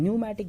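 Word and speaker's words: pneumatic: और वो बोन्स जिनमें एयर स्पेस प्रेजेंट होंगे those are called as न्यूमैटिक bones. P यहां पे साइलेंट रहेगा, these are called as न्यूमैटिक bones.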